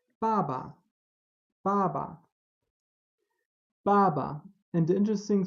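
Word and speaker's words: 爸爸: not ba and it's not Fu but it's Baba father baba baba now we have some more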